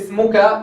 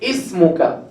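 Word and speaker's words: اسمك: So we don't say smuka, they say ismuka.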